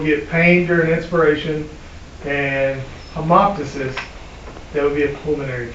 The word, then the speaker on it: hemoptysis: Hemoptysis. Hemoptysis.